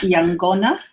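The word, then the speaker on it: yaqona: K-A-V-A, kava, or Yangona, with a Y-A-Q-O-N-A, Yangona. Q in Fijian is pronounced NG, the sort of soft G.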